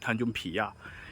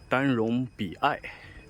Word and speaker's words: Tanjung Piai: PIAI tanju PIAI is not tanju PIYA It should be pronounced Tanjung Biai SELAMAT DATANG KE TANJUNG Piai the southernmost tip